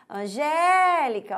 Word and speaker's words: Angélica: sílaba G né olha Angélica olha só a sílaba que sobe é considerada a sílaba tônica é considerada a sílaba forte Lembrando que essa análise